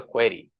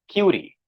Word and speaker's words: query: ask a question so I should have said I have a query but I ended up saying I have a cury when I said I